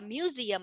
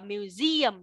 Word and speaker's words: museum: Ở đây Vinh nhớ cho cô không đọc là museum, đọc là museum, nhấn âm 2 cho cô.